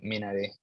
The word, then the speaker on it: Minari: mentioned the personal connection that you have to Minari. Is that pronounced correctly?